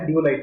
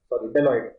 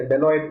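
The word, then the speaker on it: Deloitte: Report ये निकाला है डियोलाइट ने, सॉरी मैं शायद गलत प्रोनाउंस कर रहा हूँ, डेलॉइट। आप लोग जान रहे हैं प्रोनाउंसिएशन में कितनी दिक्कत करता है मेरे को, ठीक है ना। डेलॉइट प्रोनाउंसिएशन है, डेलॉइट सेंटर फॉर गवर्नमेंट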